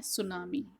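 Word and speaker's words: tsunami: लहसुन दिया गया है सुनामी टीम लिखा है लेकिन अति साइलेंट होता है तो इसको आम चुनाव में ही बोलते हैं तो ड्यूरिंग द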